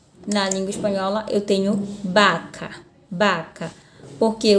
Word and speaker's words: vaca: eu tenho vaca na língua espanhola eu tenho baka baka porque o ver tem sempre som de